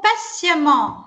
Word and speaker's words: patiemment: Et attend patiemment, non pas bâtiment. Donc la renarde s'approche tout doucement et attend patiemment. Le T ici se prononce C.